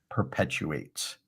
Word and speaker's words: perpetuates: And then when you get the opportunity, it's how good we are on stage that determines if our message perpetuates. Perpetuates. 4 syllables, Mark.